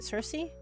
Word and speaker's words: Cersei: Cersei.